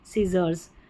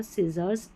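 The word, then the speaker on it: scissors: Number 35 पर है SC, इसको स करके प्रोनाउंस करेंगे, जैसे सीन, साइंस और सीजर्स, सीन, साइंस और सीजर्स, SC को स करके प्रोनाउंस करना है, SC को स, ऐसे याद रख ले।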